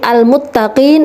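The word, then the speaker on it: المتقين: new loha yuhibbul mutawakkilin al-muttaqien adalah bacaan izhar qamariyah Kenapa karena adalah tarif bertemu dengan huruf mim jadi bacanya jelas al-muttaqien yuhibbul Madyo uhibbul Muttaqien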